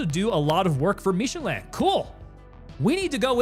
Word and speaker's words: Michelin: It's also less French pronounced. It's literally the tire company, so we're saying it's just Michelin.